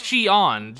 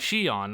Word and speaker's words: Xion: Okay, yes, Xion. She didn't say it like she said it more like Xion, not Xion.